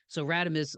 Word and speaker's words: Radames: But so Radames, like, and I want to make sure I pronounce that correctly, You right?